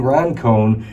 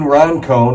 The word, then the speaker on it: Roncone: You know, our former lead pastor, Gene Roncone, he's like my podcast hero.